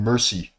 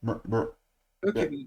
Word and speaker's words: Mercury: In Roman mythology, Hermy was called Mercy. Mercy Mercury dumb ass.